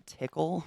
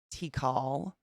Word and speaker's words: Tikal: And I got a couple more from Tickle, which I learned is actually pronounced Tikal.